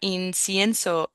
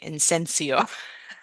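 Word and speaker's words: incienso: You did it better than I do because you got inenso. Perfect. And that's a word that I can never say right. I always say insensio.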